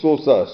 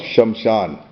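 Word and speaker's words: श्मशान: now actually what is sosa Sosa is a mispronunciation of shamshan shamshan means the chal ground Sosa is a mispronunciation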